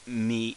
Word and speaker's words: み: the e line so this is like me as in me myself and irene uh me myself and